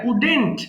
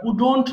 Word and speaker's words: wouldn't: হবে নেগেটিভ টার্মটা এটা উডেন্ট ওকে অনেকে ভুল করে আমরা উডন্ট বলি উচ্চারণ হবে simply উডেন্ট আই উডেন্ট right আমি